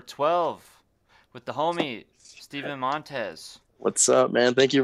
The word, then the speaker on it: Montes: All right, Crossroads podcast number 12 with the homie Steven Montes. What's up, man? Thank you for having me. Yeah, man. Did I pronounce it right? Yeah, you got it Montes? right. Nice. Montez, yep.